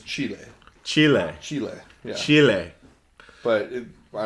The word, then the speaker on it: Chile: so um in chile is it chili or chile the proper pronunciation is chile chile chile chile but